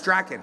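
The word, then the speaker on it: Drakkon: But it's Draken. That's how you pronounce it.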